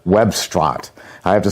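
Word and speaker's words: Webstaurant: use a lot called Webstrant. I have to spell it for you because it sounds like web restaurant, but I guess they couldn't get the rights to that.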